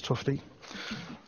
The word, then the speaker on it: Tufte: So Edward Tufte, I had to Google how to say it, is Tufte.